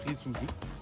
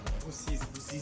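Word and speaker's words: Rusizi: Roussisi. Ah. Voilà. On m'a corrigé. Roussisi. On est dans la ville de Roussisi. Moi j'ai dit Risuzu. Je croyais qu'on était au Japon. Roussisi.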